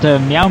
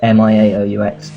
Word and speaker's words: Miaoux: How did you decide to It's what cats say in French, because like in Britain they say meow, but it's Meow, but in France it's spelled Miaoux, and I don't know, I like the sound of it.